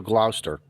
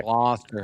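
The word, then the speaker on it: Gloucester: We brought the kids up to Glouster. Glouster. Sorry. What? Glster. Glower. How do Okay. How Okay. H how does a Connecticut guy supposed to annunciate this word? Glouster.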